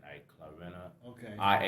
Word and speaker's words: Clarina: I just drum about say her name again clarena c l a i r i n a clarina okay I H Nichols she looked out of